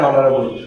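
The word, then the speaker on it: honorable: তাহলে কি হবে, এ হাউস, আর এখানে অ্যান অনারেবল, তাহলে আমরা এখানে বুঝলাম, দেখো এইচ এইচ, এখানে এইচ আছে, অ্যান বসানোর কথা, কিন্তু আমরা এখানে উচ্চারণে ডিফারেন্স দিলে এ বসাইছি, অনারেবল।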